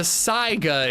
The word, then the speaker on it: Saiga: Is it really how you say and pronounce the shotgun? Well, it's a Saiga. Whoa, was that a sync attack? It's a Saiga is the real name of the gun.